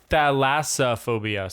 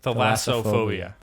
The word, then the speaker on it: thalassophobia: No, it's thalassophobia. So it's not even. There's not a Okay. THL there either. It's THA. THALASSO phobia. Thalassophobia. That is a hard Thalassophobia.